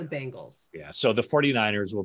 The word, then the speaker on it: Bengals: I always prefer to just like kind of go right down the middle and you say it quickly. Leave enough gray area so people think I'm saying it right. When in actuality, it's the Bengals.